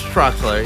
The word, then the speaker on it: Troxler: yeah like a different spelling Troxler Troxler it's Troxler yeah or TR like x l e r